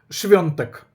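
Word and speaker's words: Świątek: Хоча, повторю ще раз, якщо ви будете вимовляти свтик без букви н, це також не буде помилки. Тому вимовляйте. Я вам зручно запам'ятати і зручно вимовляти. Я завжди кажу швантек, тому що я тисячі разів був в Польщі. Я трішки знаю польську мову і я знаю точно, що я майже стовідсотково правильно вимовляю.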